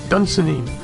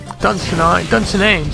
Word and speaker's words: Dunsinane: I think that prefix right there sounds Scottish, like Dunsinine. You know, but I don't know. Dunsinane, sorry, Dunsinane, not Dunsinine.